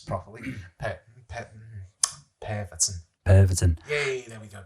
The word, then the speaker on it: Pervitin: Yeah, I'd say the recommended dose of, if I can pronounce it properly, Pervitin. Pervitin. Yay, there we go, Pervitin.